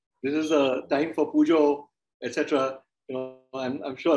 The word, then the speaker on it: puja: I like the way you pronounce the word pujo. I am not from Bengal, but Bengalis, they do pronounce it as pujo. We pronounce it as puja, but I like it the way you do.